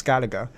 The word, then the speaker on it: Skellige: The name of these islands, Skellige, we know it's pronounced like Skellige until we get the games and we hear the English, these English vocal, they pronounce the word Skellige.